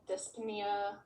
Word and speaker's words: dyspnea: of breath orthotia dyspnea dyspnea how you don't pronounce the p um what else um